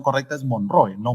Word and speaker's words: Monroe: Por si acaso la pronunciación correcta es Monroe, no Monroe, como he escuchado a muchos, ¿no?